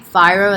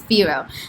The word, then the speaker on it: Firo: going to do a quick technical analysis on firo the last time i actually created this video i was calling it phyro and somebody from their team commented mentioning that